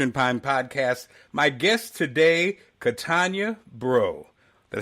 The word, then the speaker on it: Katonya Breaux: My guest today, Katonya Breaux.